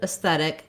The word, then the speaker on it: aesthetic: And this word has second syllable stress, so that AE or letter E at the beginning is a short, unstressed syllable.